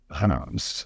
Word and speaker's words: Reims: When I was looking back through my pictures of the elusively pronounced Reims [Reims, Reims, Reims, Reims, Reims, Reims] I found this little snap of a launderette quite compelling.